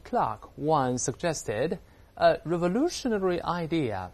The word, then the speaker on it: Clarke: 这是我们首先看到这个主语是这个科幻小说作家的名字。那这是作者呢写文章时可能马虎了啊，这个名字拼错了，后面 C-L-A-R-K 还有个字母 E 啊，但发音都是 Clark。美国人会读是 Clark 也有可能啊，这个后面字母 E 呢，这个被忘记了。咱们一会儿会介绍这个人的背景。啊、他 One 曾经提出。Suggest